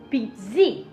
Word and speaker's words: pizza: Oh, that I learned in Italian class when there's a double consonant like the ZZ, you put you really hit the emphasis on the second consonant cuz in Italian you